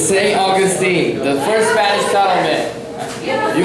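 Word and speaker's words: St. Augustine: 100 points got answer no it's St uh Austine St Augustine what maybe maybe I pronounce it wrong I don't no not pronounce it wrong it's St Augustine the first Spanish tlan you guys should know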